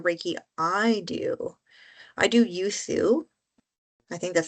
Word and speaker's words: Usui: I do Usui. I think that's how you say it. Usui? Yes. Yes. Usui.